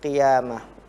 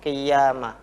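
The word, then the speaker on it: قيامة: Namun di lafadz al-qiyamah ini perlu dicatat bahwa banyak sekali yang ketika membaca qiyamah seolah-olah qaf berharokat kasroh ini masuk ke ya, qiyamah. Jadi seolah-olah ada tasydid, padahal itu ya? Tidak ada.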